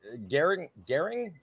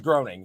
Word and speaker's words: Groening: Matt Gehring. Fuck, I don't know how to pronounce his name.